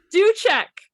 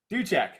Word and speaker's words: Duczek: Duczek. Duczek.